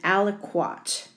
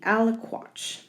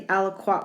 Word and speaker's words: aliquot: and it is spelled a l i q u o t right and that's a big one the al-aqua there we go again aliquot is the liquid inside so if i highlight the aliquot word yellow i would